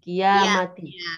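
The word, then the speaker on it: القيامة: Untuk kalimat yaumal qiyamati yang panjang huruf apa? Mim ya? Iya mati. Ya panjang. Iya mati. Jadi kalau menghafal hadis itu kadang-kadang apa namanya ya? Ikutan ini ya, ikutan nadanya ya, karena dia inna. Iya, kadang-kadang ke bawah ya. Iya, ke bawah. Jadi yang betul yang panjang adalah ya-nya, kiamati.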